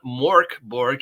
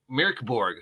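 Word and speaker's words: Mörk Borg: been saying it wrong it's not Mor Borg it's Mir Mir mirk Borg almost like meow Borg oh God I just introduced another possible Mor Borg parody meow Borg so it's mirk Borg which means Dark Castle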